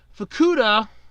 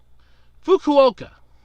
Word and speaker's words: Fukuoka: made a headline last year a man in fukuda or fuku Fukuoka I knew I was gonna pronounce mispronounce that too he was arrested for